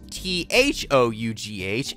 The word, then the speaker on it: though: See, like this word is pronounced T-O-U-G-H. That's tough. Okay, now I'm gonna add an H on after T, and now it's T-H-O-U-G-H, and that's though.